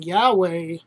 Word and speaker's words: Yahweh: As for the pronunciation Yahweh, as I understand, that was the pronunciation that the Samaritans used.